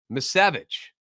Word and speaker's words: Misiewicz: how I can see I keep changing the way I say his name because I'm just not that familiar with them yet miss Savage that's how you say it left-handed relief pitcher Anthony